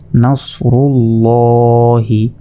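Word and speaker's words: نصر الله: হা জের হি নাসরুল্লাহি এখানে দেখুন আল্লাহ শব্দের ডান পাশে র অক্ষরটির ওপর পেশ রয়েছে তাহলে জবর এবং পেশ থাকলে সেটা হচ্ছে পুর এখানে আমরা মোটা করে লামকে ল এভাবে উচ্চারণ করব নাসরুল্লাহি প্রিয় দর্শক শ্রোতা আসুন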